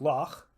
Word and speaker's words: loch: In Scottish words like loch, or the name of the composer Bach, we often cheat a bit and pronounce it k. But you may have heard them with a raspy final ch sound made in the back of the mouth.